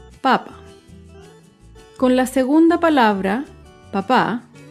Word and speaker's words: papa: En este ejemplo, la primera palabra, papa, no tiene tilde y el acento está en la primera sílaba, papa.